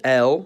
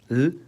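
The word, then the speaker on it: л: It's called L, and it sounds like L, or L, which to me are literally exactly alike.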